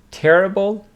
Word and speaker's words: terrible: Here we have two words, terrible and terrific. Terrible with the stress on the first syllable.